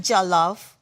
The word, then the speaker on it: jollof: How do you pronounce the rice again? Jollof.